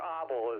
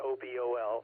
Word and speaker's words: obol: A single obol, or obol is actually the correct pronunciation, O-B-O-L, obol.